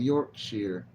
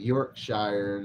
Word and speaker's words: Yorkshire: have a friend from Yorkshire I used to pronounce it Yorkshire then he corrected me no it's Yorkshire you cheeky fellow that's what